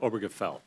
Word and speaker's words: Obergefell: Obergefell.